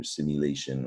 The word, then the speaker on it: simulation: this latin root ation it's not pronounced the way it's spelled a shun you might you might